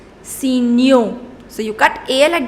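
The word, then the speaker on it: signaux: newspapers so you see the pronunciation also changes signal in order to make it plural it becomes see Neo so you cut Al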